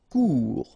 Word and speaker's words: court: Court. Final T not pronounced. Court. Remember, when you combine this O and U together, you get the sound OU.